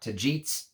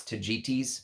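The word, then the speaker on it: Tagetes: to properly say it it's not to gets it's not tajits it's tajitis apparently I hope I'm pronouncing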